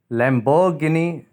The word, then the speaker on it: Lamborghini: Lamborghini. Lamborghini is wrong. Lamborghini is right pronunciation.